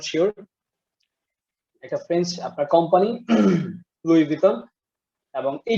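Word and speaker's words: Louis Vuitton: LOUIS, VUITTUN, লুইস বাটন। লুইস বাটন, কিছুটা ক্লোজ ছিল। আর আচ্ছা আমি বলছি, এটার উচ্চারণটা হচ্ছে লুই ভিটন, উচ্চারণটা হচ্ছে লুই ভিটন, লুই ভিটন, লুই ভিটন না, ইটস ভিটন, ভিটন, লুই ভিটন।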